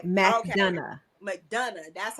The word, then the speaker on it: McDonough: McDonough. McDonough. That's how you pronounce McDonough, it.